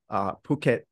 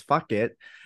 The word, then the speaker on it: Phuket: recognize like Patpong or Phuket, which they, some people pronounce fuck it, but then it's like, oh, okay, you have Krungthep, which is like, what's Krungthep?